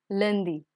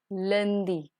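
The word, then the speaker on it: lundi: get started monday in french is known as landi landi tuesday is mardi mardi wednesday is may friday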